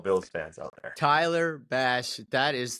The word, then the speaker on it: Bass: What rhymes with ass? 1, 2, 3. Bass.